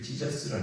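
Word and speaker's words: Jesus: 영어로는이 예수를 지자스라 그러잖아요.이 찌자스하고 예수하고 뭐 그 같이 안 되리잖아요.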